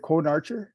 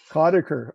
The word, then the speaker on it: Conacher: And we got Germaine, is it Conarcher? Conacher. Okay, I'm glad you're here. I keep mispronouncing.